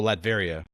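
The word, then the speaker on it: Latveria: What is the How do you pronounce the the trait? I don't Vlad. Oh, Ladveria.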